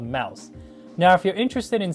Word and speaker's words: Mous: buying this case here from a company called mouse it's spelled m-o-u-s and i really like the way